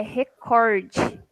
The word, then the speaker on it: recorde: não sei o quê Tá errado é recorde o corte que é Tonico recorde a oferta recorde não recorde então isso aí são